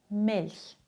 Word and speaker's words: Milch: Es gibt noch eine zweite Regel, auch nach den Buchstaben L, N und R. Spricht man CH weich aus, zum Beispiel Milch, manchmal, Kirche.